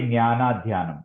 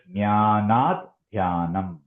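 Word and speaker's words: ज्ञानाद्ध्यानम्: So the way to actually chant this, when we chant it should not be jnana dhyanam. It is jnanat dhyanam.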